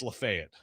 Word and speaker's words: Lafayette: Okay, so here's a town that in Indiana is pronounced so people know is pronounced Lafayette. So, here I will say it's Lafay it.